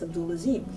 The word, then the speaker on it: Abdul Azim: I corrected people when they mispronounced my mother's name, or when they would like to call her Miss Abdul, and I would say that's Abdul Azim.